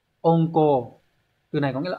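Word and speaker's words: 温厚: Từ này hán tự là chữ ôn, là chữ hậu đúng không? Đọc là ôn cô.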